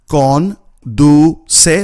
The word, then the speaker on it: conduce: So you would tell him, conduce, which means drive, conduce, three syllables, conduce despacito, drive slowly, conduce despacito.